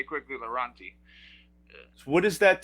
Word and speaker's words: Lorawnt-T: So I've got two T's at the end of my name, but it's not like Lorawnt-T or whatever. It's just Lorawnt-T. Got it. We say quickly Lorawnt-T.